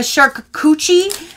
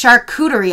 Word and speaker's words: charcuterie: say this was a shark coochie is what they said in one of their descriptions and I'm like I don't think that's how you say it because it's charcuterie I believe but they said in